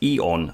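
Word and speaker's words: AEON: 2022 list oh okay pronounced eon okay number two is coco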